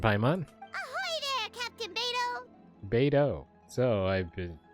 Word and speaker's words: Beidou: Beidou. So, I've been pronouncing that completely wrong.